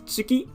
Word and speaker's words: 月: beginning it's pronounced as tsuki by itself and usually it's pronounced as getze or gatsa if it's in a compound word so together with other kanji um make sure that